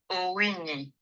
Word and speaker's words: Owinyi: So let me ask you to pronounce your name the way you love it to pronounce, and tell us a little bit about yourself. My name is Owinyi.